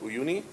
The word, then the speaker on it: Uyuni: And I think in the open source version it's called Uyuni, if I say it right.